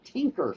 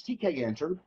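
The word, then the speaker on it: Tkinter: called tk interface or tk enter for short some people pronounce it t kenter and some say tinker for some reason i have no idea why but it's tk entered officially and uh that requires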